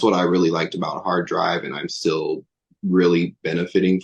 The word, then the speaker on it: HRDRV: Hard drive? Yeah, it's called Hard Drive. It's spelled like HRDRV, I believe is how you do it.